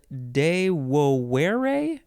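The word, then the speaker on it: devovere: is from the Latin dewere there's two v's in there which are pronounced like W's in Latin dewere which is from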